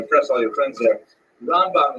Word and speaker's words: Ramban: all your friends there ramban is pronounced with the emphasis on the first syllable ran and ran is